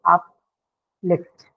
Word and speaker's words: uplift: So if it is used as a verb, then it's going to take up the stress that you see in the second pattern, right? So that is stress on the second syllable. So uplift, right? And if it's used as a noun, then we are going to mark the stress on the first syllable, like is the case for all disyllabic nouns, correct?